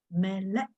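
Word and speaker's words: מלך: M-E, me, L-E, le, and then this is calf, K-E, but no sound. So no sound is K and dash. So how do I pronounce as is melek, melek?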